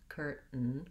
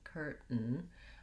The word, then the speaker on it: curtain: is no vowel sound we go right from the t to the n and this is what's called a syllabic n and basically it means that the n consonant sound functions as the full syllable if i were to write it i would say that i would put maybe a little tiny schwa in there a little uh sound curtain curtain when i'm saying that